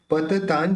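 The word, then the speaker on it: पतन्तं: पत तां जना नाम अब यहां पर जो बिंदी है उसके लिए ज है ज बोलते समय दोन होट मिलेंगे नहीं तो इस त के ऊपर जो बिंदी उसका उच्चारण निकलेगा न तो पत तां जना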